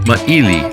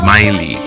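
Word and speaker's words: Mā'ili: For example, I've heard Princess Lili'ou Kalani pronounce it without the oo, and it's Maili, not Maili. Maile, Maili.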